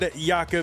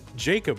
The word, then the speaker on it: Jakub: And Jakub, because I'm an American and I can't imagine that anything would not sound like Americans pronounce it. I said Jacob one time, so I remember that.